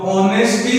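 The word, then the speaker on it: honesty: जब हम इसका उच्चारण करते हैं तो है उच्चारण बिल्कुल नहीं करते, हम इसका उच्चारण करते हैं ए। तो ऑनेस्टी हम इसको बोलते हैं, ऑनेस्टी है नहीं बोलते, हो नहीं बोलते, बल्कि ऑनेस्टी बोलते हैं।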